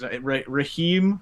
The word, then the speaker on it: Raheem: Is it Raheem, or am I saying it wrong? It's Raheem. Okay. Yeah, Raheem.